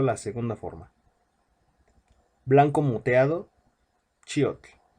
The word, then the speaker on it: Chiotl: Blanco moteado, Chiotl. La pronunciación es enfatizando en la I, Chiotl.